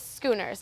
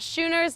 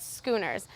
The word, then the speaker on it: Schooners: gr here in Bloomington now the way you pronounce it is Schooners not shoers not Shooters but Schooners the owner really wanted